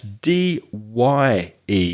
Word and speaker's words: dye: not to stop breathing that's not d i e that's d y e so different spelling but exactly the same pronunciation can you dye my